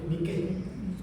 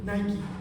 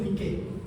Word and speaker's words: Nike: Se se escribe, este, se pronuncia como se escribe en griego, Nike. Este, yo sé que los que quieren ser elegantes dicen Nike, pero no, en griego es Nike.